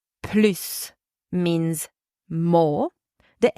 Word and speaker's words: plus: s is pronounced PL so the S is silent in negative sentences with